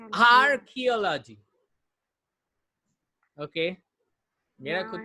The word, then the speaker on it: archaeology: Logy is not the right way to pronounce any word.